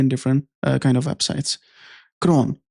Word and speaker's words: cron: क्रॉन, इसको सीरॉन या क्रॉन या डिफरेंट लैंग्वेजेस के अंदर इसको डिफरेंट प्रोनाउंस किया जाता है।